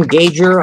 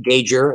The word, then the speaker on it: Gauger: Ann Gauger, I only recently discovered that her name is pronounced Gauger. It looked like Gauger to me.